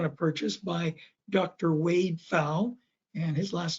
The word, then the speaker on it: Pfau: Wade Pfau, and his last name is spelled P-F-A-U, Pfau.